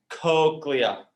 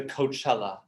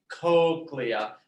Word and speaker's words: cochlea: Number 6, say cochlea, cochlea. Some people call this the Coachella.